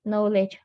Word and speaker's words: knowledge: suggestion on the pronunciation it is silent k so knowledge it seems that there